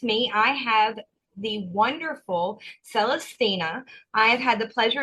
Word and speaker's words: Celestyna: print they go what so my name is celestina um and it's okay to mispronounce it I I don't get mad about